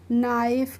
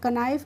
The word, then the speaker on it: knife: ऐसे और भी वर्ड्स होते हैं, जैसे नाइफ क्या होता है? KNIFE, नाइफ मीन्स चाकू। कनाइफ नहीं पढ़ते हैं, इसको क्या पढ़ते हैं?